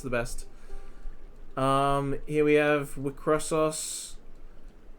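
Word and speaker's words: WIXOSS: I know it's pronounced Wicross. I just like to call it Wicrossos because the cross is meant to be cross, but then there's still os after the cross.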